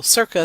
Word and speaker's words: circa: So circa sounds a little bit like circus.